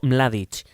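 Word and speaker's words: Mladić: dar ya el primer mini punto por la pronunciación maravillosa de Mladic, que es ML, ¿no? Pues sí, Ratko Mladic.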